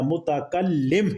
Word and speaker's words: متکلم: یعنی بات کرنے والا متکلم ہے، وہ لفظ کیا بنے گا؟ صحیح اس کا جو تلفظ بنتا ہے وہ متکلم، متکلم، یعنی متکلم وہ لفظ صحیح بنتا ہے، ٹھیک ہے۔ قرآن